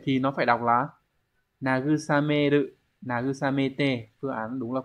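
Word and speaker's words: 慰める: Vậy thì nó phải đọc là nagusameru, nagusamete.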